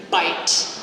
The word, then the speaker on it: bite: So things like the word bite. It's not a true I sound, it's I. So it's two vowels in one. Bite as a diphthong.